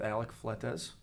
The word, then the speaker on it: Alec Fletes: watching um we are here with alec fletes right how you say it yep cool man um thank